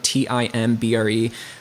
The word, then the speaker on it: timbre: know what Timbre is it's actually spelled like Timber like t-i-m-b-re but it's pronounced Timbre I don't know it's